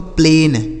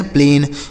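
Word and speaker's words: plain: पी एल ए आई एन इसे पढ़ेंगे दोस्तों प्लेन। पी एल ए आई एन प्लेन।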